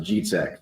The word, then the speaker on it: Dzicek: So Polish, it's pronounced Dzicek. So the DZ makes a G noise, the C makes a TZ noise.